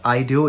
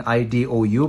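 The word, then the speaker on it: Idou: the sony ericsson satio i do now that's pronounced i do it's what it was just stylized in ido but that's how it's pronounced it's pronounced i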